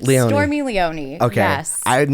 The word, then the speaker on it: Leoni: the one and only stormy how do you pronounce your last name stormy Leone okay yes I'm not gonna lie like it